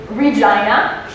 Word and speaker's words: Regina: animal and stuff um so the capital is Regina um that is the name of the capital of the scin it was supposed to be called Regina after the queen and someone along the lines